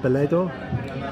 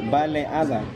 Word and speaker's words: Baleada: How do you say it? Baleado? Baleada. Baleada.